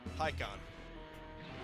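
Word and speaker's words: Pikkon: But just for the record, it's spelled P-I-K-K-O-N. Pikon.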